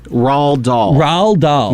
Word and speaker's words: Roald Dahl: by R.L Stein okay how do you say this person's name Roald Dahl Rawl doll yeah I mean that